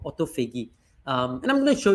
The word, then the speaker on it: autophagy: known as autophagy, and you pronounce it autophagy, right? So I say autophagy, but it's autophagy. Is probably the best way to pronounce it, and it comes from this Greek prefix auto, which is self, and phagy, which is feed on.